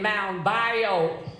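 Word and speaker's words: Mound Bayou: Born in Mount Bio, Mississippi.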